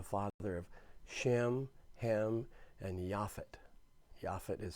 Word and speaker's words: Japheth: of shem hem and yafit yafit is spelled j-a-p-h-e-t it looks like japheth but it's it's pronounced yaffit now we've got to